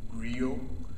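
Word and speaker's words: Grillo: is a gentleman by the name of Frank Grio but that's spelled GI g g r i l l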